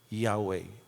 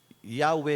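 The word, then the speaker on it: Yahweh: na ultimong mga Hudyo they can't even pronounce it kaya para ma- pronounce with all respect nilagyan nila ng vowels para masabing mabanggit yahwe and we say that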